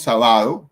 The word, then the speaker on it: sábado: antepenúltima si la entonces tenemos la palabra sábado dividamos esa palabra yo va a lo decimos sábado ni decimos sábado decimos sábado y significa que el sábado tiene el acento en la antepenúltima si la última penúltima